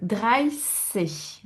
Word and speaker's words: dreißig: Donc, dreißig. Hein, ça se prononce comme le S.